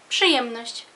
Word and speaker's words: Przyjemność: Przyjemność. Przyjemność significa placer.